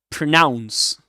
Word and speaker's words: pronounce: A schwa in the first syllable. Pronounce, pronounce, and it rhymes with the second syllable with the word rhymes with announce, right? Announce, announce, pronounce.